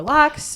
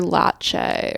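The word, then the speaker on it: Laxe: It's pronounced Oliver Latche or something. That's how the That's how the Q&A moderator was saying it. It's like Oliver Latte.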